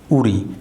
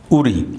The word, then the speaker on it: উড়ি: অনেকেই পুরানী চৈতন বলি কিন্তু এটির শুদ্ধ উচ্চারণ হল উড়ি যা অনেকেই জানে না এটি আমাদের বাংলা একাডেমী বাংলা পিডিয়ার বিভিন্ন গ্রন্থে আছে এর শুদ্ধ উচ্চারণ উড়ি অষ্টম এবং নবম শতকের মাঝামাঝি সময়ে আরেকটি পরিবর্তন লক্ষ্য করা যায়।